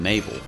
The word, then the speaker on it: Mabel: Mabel, it rhymes with table.